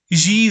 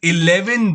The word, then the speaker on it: Xi: In 2014, the Chinese President Xi Jinping visited India. And on the day when he was landing in India, a poor Doordarshan news reader pronounced his name as 11 Jinping. That is 11 Jinping.